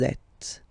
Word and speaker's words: êtes: Vous êtes. Same thing here. Notice that final S is not pronounced.